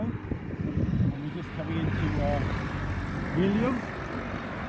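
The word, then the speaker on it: Ílhavo: This is a river Bocco, and we're just coming into Ilio. The locals don't pronounce the O in Iliovo; they say Ilio.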